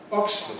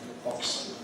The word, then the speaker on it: Oxford: Notice it isn't Oxford. It's Oxford. Oxford. Oxford. Just say Oxford.